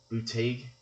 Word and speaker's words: Buttigieg: I told him in the last upload I did about Pete Buttigieg, that I mispronounced his name last time. I think Buttigieg is the correct pronunciation.